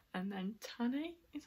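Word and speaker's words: Tané: I really like Adarlan, if that's how you say her name, and then Tane is how you say her name.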